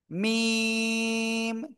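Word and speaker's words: م: অক্ষটা উচ্চারণ হয় না দুই ঠোটের কি ভিজা অংশ থেকে এরপরে যে অক্ষরটা শিখবো সেই একই জায়গা থেকে উচ্চারণ হবে এই যে খেয়াল করবেন সবাই এই যে অক্ষরটা আর এ অক্ষরের নাম কি জানেন এটা শুকন জায়গা থেকে উচ্চারিত হয় দুই ঠোটা শুকন জায়গা থেকে মিম চার আলিফ টান কয়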